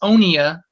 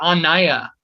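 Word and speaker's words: Onieh: as um even though I tell them it's onia like O as a note they keep hearing it or saying it as Ana as an on and gone.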